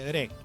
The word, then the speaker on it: Rek: Por último, tenemos el Re. El Re proviene de Camboya. La palabra Re se escribe Rec, pero se pronuncia con la R suave y la K pasa a ser silenciosa.